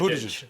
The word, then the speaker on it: Buttigieg: I can never pronounce it. Help. Buttigieg.